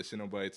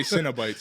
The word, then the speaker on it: Cenobites: I say Cenobites. You know, like you know, it's like a Cinnabon.